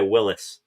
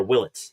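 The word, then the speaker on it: Willits: The first overall pick, Washington selects shortstop, Eli Willis or Willlets, excuse me.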